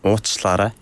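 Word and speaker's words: уучлаарай: 오치라레. 워치라레. 오치라레. 오치라레. 오치라레. 와, 발음이 어려운데요.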